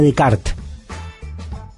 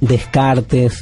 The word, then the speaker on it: Descartes: al pensamiento de rené de kart rené de kart se escribe descartes está todo bien si usted dice descartes bojan o nada se dice de kart esto pasa con los